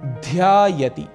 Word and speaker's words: ध्यायति: भक्तः ध्यायति, भक्तः ध्यायति, यहां पर उच्चारण का हमें विशेष ध्यान रखना है। ध अक्षर महाप्राण है, इसीलिए यहां पर ध्वनि एम्फेसिस थोड़ा अधिक होगा और कहेंगे ध्यायति, भक्त ध्यान करता है।